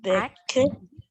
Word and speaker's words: packed: I haven't even packed my bags. Okay, one more time. ED-nya nggak bunyi.